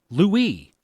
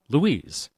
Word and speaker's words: Louis: TV show VEP is named Julia Louie Drifus pronounced Louie and not Julia Louise Drifus pronounced Louise.